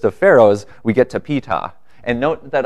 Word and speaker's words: Ptah: pharaohs, we get to Ptah. And note that I actually know that the P is pronounced because Wikipedia has these cool little pronunciation keys.